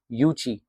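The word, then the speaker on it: Yuezhi: They belong to द वन ऑफ़ the five क्लैं्स ऑफ द यूची। यूजीई जो है आपके यह प्रोनाउंसिएशन यूची है।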